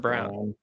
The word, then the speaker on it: Braun: Is it Braun? It's spelled Braun, but it's pronounced Brown.